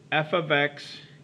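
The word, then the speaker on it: f(x): that means multiplication but that's not what this means here we're not multiplying f of X first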